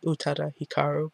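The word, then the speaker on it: Utada Hikaru: love with utata Hikaru I've only recently started pronouncing her name utata Hikaru by the way I am the proud owner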